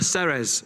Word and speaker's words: Ceres: Ceres. Ah, Ceres. So like Sergio.